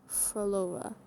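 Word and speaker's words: Phrolova: I always really struggle with characters names who who where their names start with PH cuz it's not pronounced like P. It's F. So Froolova.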